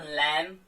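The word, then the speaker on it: lamb: जैसे अगर मैं बात करूं क्लाइम, अब इसमें बी आया तो बी साइलेंट हो जाता है। क्रम, क्रम, या फिर मैं बात कर लेता हूं लैम, यस ऑफ कोर्स, या फिर थम।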